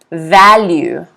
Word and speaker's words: value: Value. Once again, if you see the apostrophe here on the phonetic spelling, the stress is on the first syllable.